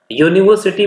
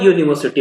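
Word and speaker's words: university: इसलिए क्योंकि जहां भी और कोई शब्द अगर यू से शुरू होता है और यू का उच्चारण यू जैसा होता है तो उससे पहले ए लगाया जाता और मतलब ए तो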